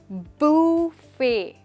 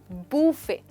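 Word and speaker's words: buffet: और इसको हम कहते हैं बूफे, यानी कि टी जो है वो है साइलेंट, नहीं बोला जाएगा, आप कहेंगे बूफे। फिर से बोलिए, बूफे।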